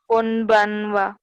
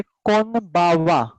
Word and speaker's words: こんばんは: Konbanwa. हाँ, इसका अलग अलग टाइप का प्रोनाउंसिएशन रहता है. फर्स्ट हमने अभी देखा वो कौन बनवा. कभी कभी होता है कौन बावा, कौन बावा, और कभी कभी रहता है कोम बावा.